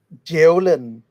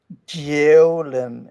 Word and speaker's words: Djævlen: Djævlen. So it equals devil. One more time. How do you pronounce it? Djævlen. It's like DJAEVLEN in English, if you want to pronounce it.